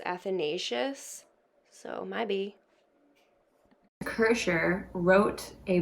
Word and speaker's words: Athanasius: while i was editing i actually realized it's pronounced athanasius so maybe kirscher wrote